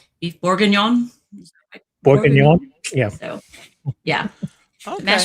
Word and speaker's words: Boeuf Bourguignon: Boeuf Bourguignon.